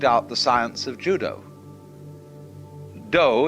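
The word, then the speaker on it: dō: the science of Judo do is the way the Japanese pronounce Dao je means gentle Judo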